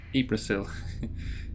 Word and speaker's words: Yggdrasil: If you're wondering why I pronounce it Yggdrasil, I think that's just a remnant from living in Spain for many years.